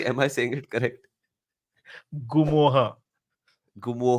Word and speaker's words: Ngumoha: रियो गुआ निद एम I saying it correct गुमो हा गुमो हा रियो गुमो हा ए साइलेंट गुम एंड साइ त तू ट्रांसफर तू